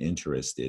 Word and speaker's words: interested: a three syllable word interests ed as a four syllable word but some you can probably get away I'm sure you pronounce it with three syllables interested that's what make it makes it hard to spell so you need to know that interested is a four syllable we're not interested three syllables alright setting these